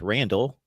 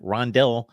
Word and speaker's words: Rondell: I thought it was Randall. I've checked it out. We've got Rondell Bothroyd with an O.